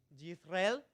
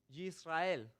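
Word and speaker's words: ישראל: muy parecida a Israel si los pronunciamos en hebreo es yisrael yisrael ahí está la la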